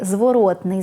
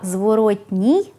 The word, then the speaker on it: зворотний: зворотний зв'язок то знайте слід писати й вимовляти закінчення ий слова зворотній в українській мові не існує як не існує і прикметника природній навіть якщо ви часто його чуєте саме природний - це прикметник до іменника природа а також справжній натуральний